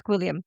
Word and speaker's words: Gwilliam: Fugitive streamer on the run after being Guillaume, is it? Guillaume. No, it's not Guillaume because that's spelled completely French. different. Yeah, This is literally G. William. Oh wow! The letter G.